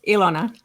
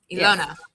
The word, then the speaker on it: Ilona: It's Ilona. Ilona. Yes. Yeah, that's correct. Yeah, no worries. And people do get it. It looks like 2 L's, so it's fine.